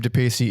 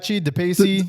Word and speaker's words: DePace: think Steve which I've heard his last name pronounced different ways. But DePacy. I think I heard David Yao say DePachi or something. It's probably I thought it was like DePace.